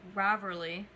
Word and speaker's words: Ravelry: But before I mention that, what led to me starting it is Ravelry.